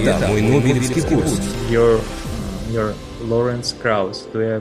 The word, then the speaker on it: Lawrence Krauss: Your Lawrence Krauss, do I pronounce it correctly? Yeah, you got it right, Lawrence Krauss.